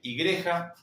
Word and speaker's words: igreja: Fíjense que se escribe igreja. Esta J ya lo vimos cuando trabajamos el abecedario, se pronuncia como una y o como una sh y creya.